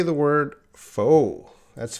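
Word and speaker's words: faux: look at the IPA you can see that that is foe that X that X is silent foe there's no more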